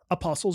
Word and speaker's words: Apostle: used as a prison Apostles you mean did I did I not say that Apostles Apostle apost is it with an l or no there's no T but the t is silent is it it's Apostle